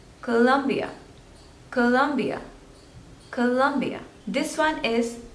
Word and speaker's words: Colombia: one is Colombia Colombia so there are three stables and you have to stress on the second one Colombia Colombia Colombia Colombia this one